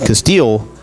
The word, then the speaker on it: Casteel: and I did not Corbin Casteel on the mound for tenora said Castile definitely throwing his name